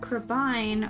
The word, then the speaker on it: Crabine: So we determined that Crabine was pronounced that way. Crabine rhymes with wine because everyone thinks I'm an alcoholic.